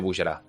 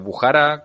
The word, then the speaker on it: Bujará: hablando del Emirato de Bujará. Eh, paréntesis, veréis que digo indistintamente tanto Bujara como Bujará como bullara. El acento en principio va en la A, pero manías de de